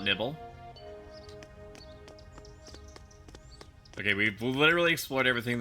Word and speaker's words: Nibel: Actually, it's pronounced Mount Nibble.